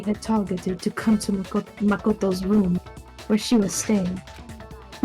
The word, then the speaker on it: Makoto: It's Makoto.